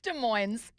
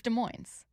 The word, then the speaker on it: Des Moines: It's Des Moines. 253 S is pronounced here, not in Iowa.